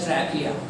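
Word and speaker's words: trachea: You should call it एज ट्रैकिया, it's like wrapping, yo मैन क्या किया, ट्रैकिया okay.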